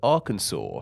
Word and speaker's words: Arkansas: southern one is called Arkansas pronounced like r as in something belonging to someone can like a tin can once again and then saw like the thing you used to cut wider the difference in